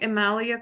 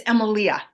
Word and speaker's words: Emalia: Am I pronouncing Emalia correctly, Brooke? No, it's Emalia. Oh, Emalia.